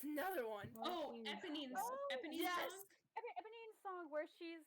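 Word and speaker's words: Éponine: Now tell me, how do you Character pronounce the name of the character that says that? Eponine.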